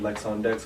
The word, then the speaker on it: Lex on Dex: It's like my name is Lex. I'm like on a DJ Dex. That's the point. Okay. And then on social media, all the same, Lex on Dex, all one word, on Facebook, Twitter, Instagram, SoundCloud, YouTube.